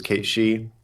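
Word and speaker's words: Cat Sìth: So you have Kate Sith, who's Kate She, the little cat fairy king, and then you have what's the dog fairy called?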